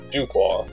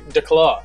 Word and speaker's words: DuClaw: correctly I hope well we pronounce both ways also do qua and I'll say de claw there you go that